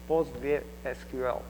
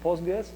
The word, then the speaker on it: PostgreSQL: the postra POG database postra SQL if it is full name I'm going to use postgress just because it is easier to to pronounce really um by the way you can hear POG SQL which is acceptable name as well so why H it